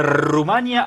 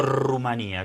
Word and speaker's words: Rumanía: ¿Hablamos de Rumania o Rumanía? ¿Cómo se dice? Las dos formas está Los permitido. españoles dicen Rumanía y nosotros decimos en América Latina Rumania por lo general.